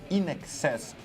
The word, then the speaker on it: INXS: Isso, Australian Rock, nós vamos ver o In Excess, que eu sempre achava que era INXS. Eu não sabia como é que era a pronúncia certinha.